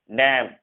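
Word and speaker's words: damn: देखो एन जो है जब भी एम के बाद होगा, यानी एम के बाद अगर एन होगा एम के बाद, तो एन हमेशा साइलेंट होता है। जैसे यहाँ पर हम पढ़ेंगे ऑटम, column, condemn, haem, डैम, यहाँ एम के बाद एन है, यानी एन यहाँ पर साइलेंट होगा।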